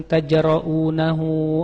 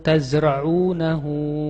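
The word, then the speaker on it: تزرعونه: Aantum tajraunahu am nahnul jariun. Padahal harusnya apa? Aantum tazraunahu am nahnuzariun. Pakai zai dan ain. Tapi dia enggak bisa zai sama ain. Eh dibacanya pakai jim.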